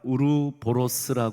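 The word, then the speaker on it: 우로보로스: 거 우르사 선전하려는게 아니라 요거랑 발음이 좀 비슷해서 좀 외우기 좋으라고 우루사가 아니라 우르보스 하는 그 그 저기 일종의 그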